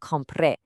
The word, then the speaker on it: compré: If I bought something, it's yo compré. Notice that accent on the e. You really have to stress that last syllable.